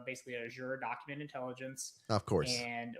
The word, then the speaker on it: Azure: I would probably start with it's called basically Azure Document Intelligence and or Azure, however you want to pronounce it. It's Azure. It's very simple.